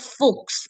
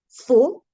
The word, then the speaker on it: faux: If you remember the dipsticks rule, DPSTX, whenever it is at the end of a word as consonants, we don't pronounce them.